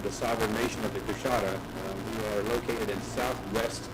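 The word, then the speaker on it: Coushatta: David Sickey from the Louisiana, I want to pronounce this correctly, is it the Coshawta Nation? It's Coshawta tribe of Louisiana.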